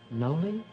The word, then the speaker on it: Noli: know my name's joe mine's know me noley well i never heard of that before how do you spell it n-o-l-i do you like it no yeah